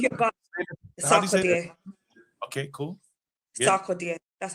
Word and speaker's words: Sarkodie: Sarkodie.